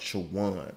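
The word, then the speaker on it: Chowan: I love how that school, the school is pronounced Chawan. All right. Virginia State defeats Chawan 20-21.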